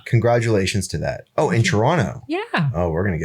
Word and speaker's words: Toronto: I say Toronto yes I pronounce the T at the end of Toronto which means I'm not from Toronto no but so 20